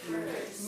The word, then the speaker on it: Merze: How do you pronounce it? Merze.